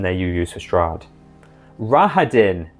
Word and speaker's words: Rahadin: Rahadin as well, or Rahadin is apparently the pronunciation that the audiobook narrator went for.